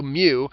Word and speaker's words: mu: this symbol Mew and it's literally the Greek letter mu it's pronounced m U Mew and it looks like